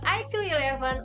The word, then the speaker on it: iQOO: Nah IQ ini adalah sub-brand dari Vivo. Dibacanya IQ ya.